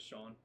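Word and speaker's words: Sean: Her name is Shawn. It's not It's spelled S E A N.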